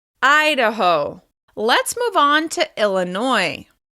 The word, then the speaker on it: Idaho: This state is stressed on the first syllable. Idaho, Idaho, Idaho.